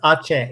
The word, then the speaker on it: Aceh: Asia, not Asia. It is Aceh.